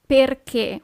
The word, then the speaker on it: perché: Why is perché with an accent at the end. Perché.